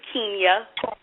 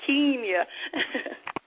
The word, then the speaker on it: Keenya: It's Keenya. All right. Keenya. All right, so. Yeah, long E, Keenya. Like a keen eye.